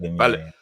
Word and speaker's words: Balogun: Is that how you pronounce it? Yeah, Balogun.